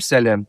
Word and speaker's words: салам: То есть в орфографии мы пишем салам, а говорим салям.